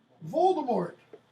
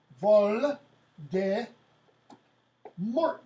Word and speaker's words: Voldemort: Voldemort. Vol de Mort, if you want to pronounce it like a good Baptist American. If you want to pronounce it like French, Voldemort.